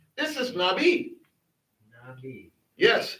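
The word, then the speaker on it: נביא: Nabi cuz the olive is silent in this word. This is Nabi. Nabi.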